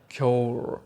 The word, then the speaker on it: Cuiré: used to call it I used to read it like Cy but it is not curri it is like cure I'm not sure how